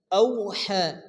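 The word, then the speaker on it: أَوْحَىٰ: আলিফ গুন্না করতেই হবে বিআনা বিন্না রব্বাকা রব্বাকা আওহা এখানে ওয়াও লিম নরম আওয়াজ তাড়াতাড়ি পড়তে হবে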